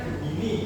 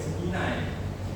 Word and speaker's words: Gemini: Biasanya kan bacanya Gemini gitu ya, tapi bahasanya itu ternyata pakai bahasa Inggris, Gemini.